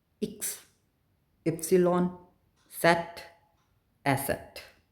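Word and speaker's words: Eszett: वे इ्स epsilon सेट asset ये जो beta वाला साइन है इसे हम एसेट बोलते हैं।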